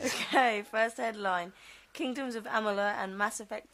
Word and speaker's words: Amalur: This time, it's the same thing with Kingdoms of Amalur and...